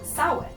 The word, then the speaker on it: Samhain: you might know about the celtic holiday called samhain if you've ever seen a word that looks like champagne it's actually pronounced sound now the history of halloween goes back forever